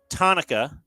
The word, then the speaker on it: Tanaka: is 62 mashah hero Tonica rhymes with Hanukkah is 34 Coco Crisp